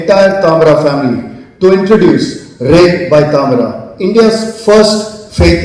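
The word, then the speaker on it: Ré: It's pronounced as Ray, written with an accent on the E, a small typographic mark that does what the brand intends to do, which is catch the light.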